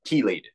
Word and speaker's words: chelated: That's the chelation agent, spelled with a ch, but it's spelled it's pronounced key, like keys, chelated.